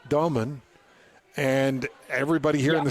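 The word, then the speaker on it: Egor Demin: comes out and says it's not Damon, it's actually Doman.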